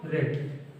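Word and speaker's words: read: क्रिया की तीसरी अवस्था रेड, रीड रेड रेड, spelling वही होती है, पढ़ने का तरीका थोड़ा अलग होता है।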